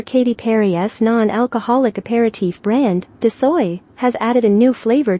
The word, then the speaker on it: De Soi: Inspired by the French ethos of indulgence with restraint, DeSoy is pronounced DeSoy.